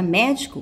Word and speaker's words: médico: Então, observe a palavra médico. Pronuncie. Ao pronunciar a palavra médico, vocês vão observar que o mé é a sílaba tônica.